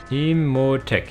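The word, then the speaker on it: Imotekh: Imhotech, yeah, I said it right.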